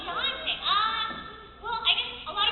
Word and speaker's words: Dante: Miss Rial, how did you pronounce that name? Dante? Oh, it's Dante.